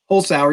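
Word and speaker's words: Holzhauer: James Holtzauer. I don't even know if that's how you say it. I guess that's how you say it. Holtzauer? Holtzauer, you got it.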